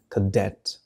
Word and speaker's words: cadet: الشاب المتدرب youth cadet لاحظ النطق الشدة على الدي cadet و cadet تعني متدرب